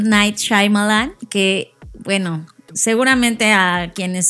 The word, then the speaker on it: Shyamalan: Yo ya vi cómo él se presentó a sí mismo y es Shyamalan. Shyamalan. Pues no, bueno, sé por qué mucha gente dice Shyamalan, no sé qué, se enreda. Es que lo lees y se lee como Shyamalan. Ajá, ¿no? Pero él mismo lo pronuncia, es Shyamalan.